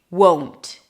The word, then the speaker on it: won't: The secret is to put the W in. In the word won't, we have the long O as in go.